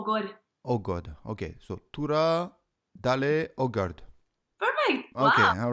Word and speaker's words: Tora: God that stuff okay Tura so it's not Torah it's Tura Tura okay after that okay oh God oh God okay so Tura Dale ogarde okay all